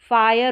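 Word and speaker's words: fire: देख लेते हैं कि शब्द के अंत में आई आर ई हो तो इसके आई का उच्चारण अक्सर अक्सर आई या आई करके होता है। मतलब आई आर ई में इस आई का उच्चारण आई करके होता है या आई करके होता है। और यह जो आर आएगा इसको र पढ़ते हैं। तो जैसे ये फायर हो जाएगा।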